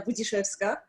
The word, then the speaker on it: Budziszewska: Yes, and you pronounced well my name, Budziszewska, and Wrocław or Wrocław, as you wish.